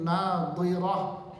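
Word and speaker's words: ناضرة: Hati-hati bacanya, mulut Anda salah rusak ayat maknanya. Wujuhun yawma idzin nadhirah pakai dot.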